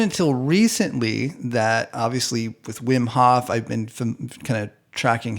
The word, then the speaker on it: Wim Hof: recently that obviously with Wim Hoff I've been kind of tracking his stuff for a while so Vim Hof actually it's probably pronounced Vim um uh and tracking